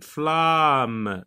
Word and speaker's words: flammes: la forêt en flammes quelle différence de prononciation fais-tu entre les mots soulignés donc on va se concentrer sur ces deux mots quelle est la différence de prononciation qu'il ya entre ces deux donc là on lit flambant là on lit flammes d'autres là il n'y